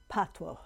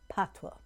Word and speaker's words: patois: now the jamaican language is called patwa it is spelled p a t o i s what is pronounced patwa and as all great